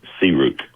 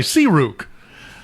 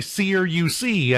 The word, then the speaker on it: SEARUC: Um, it's pronounced Seuk. Okay. Seuk. See, I was I I was going to say Cu and that would have been totally wrong, but that makes more sense.